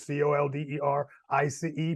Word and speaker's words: ColderICE: Small business owners, all right, e-commerce, digital marketing, and just look up Colder Ice. One word, COLDERICE.